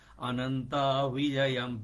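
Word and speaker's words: अनन्तविजयम्: अनन्त विजयम विजय हैन है फेरी अनन्त विजयम राजा कुन्ति पुत्रो युधिष्ठिरह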